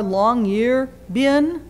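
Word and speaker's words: Longyearbyen: rises in longan Norway longan it's kind of spelled like it sounds l n g ye R long year bin when the Sun rises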